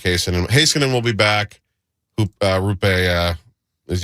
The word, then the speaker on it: Heiskanen: Haskinen's the guy who's I'm sorry. Heiskanen, right, yeah.